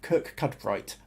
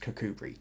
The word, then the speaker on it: Kirkcudbright: to the area um it does look like cook cut bright but yeah locally pronounced kokubri oh nicholas says hi